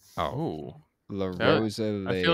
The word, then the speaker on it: Larosiliere: La Roselière. Oh, La Roselière.